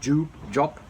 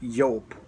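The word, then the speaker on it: Joop: pronunciation of Wolfgang yoke it's not Jew job or whatever its yoke Wolfgang up German guy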